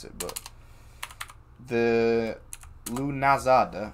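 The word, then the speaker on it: Lughnasadh: How do you go about pronouncing it? Lunasa.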